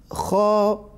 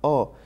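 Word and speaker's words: خ: Kho kaf going. Kho kaf going. Amatul Rahim, you have to pronounce that kho properly. It is not o, it is kho.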